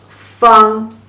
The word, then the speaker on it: 方: The pronunciation is fu ang fang.